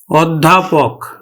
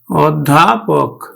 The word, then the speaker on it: অধ্যাপক: উচ্চারণ কেমন হবে দেখো আদ্য ও এর পরে কিন্তু একটা জ ফলা আছে জ ফলা থাকার ফলে আদ্য অটা ও এর মত উচ্চারিত হবে অর্থাৎ সংবৃত উচ্চারণ হবে তাহলে আরেকটা জিনিস হলো